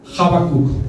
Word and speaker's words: Habacuc: El profeta Habacuc viene de una raíz hebrea que es Habak, y se pronuncia Habacuc.